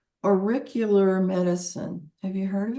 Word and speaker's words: auricular: it's AUR, like oral, AURICULAR, auricular.